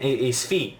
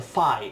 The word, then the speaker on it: Fi: I still say that the character from Skyward Sword was named Sfi, and in the Nintendo Direct they called her Fi, and I hate them since that day.